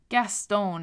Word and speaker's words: Gaston: and gave a laugh Gaston is how I pronounce it but really have your way with it he sat there pairing